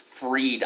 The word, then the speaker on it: Fried: he should be fried his last name is pronounced freed ironically so the bank